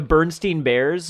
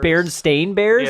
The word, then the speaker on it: Berenstain Bears: kind of like the bernstein bears like when you hear the actual pronunciation it's berenstain bears and you're like that